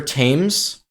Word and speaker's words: Thames: So I ended up just going along the river Thames. In German it's called Themse, but in English it's Thames, obviously.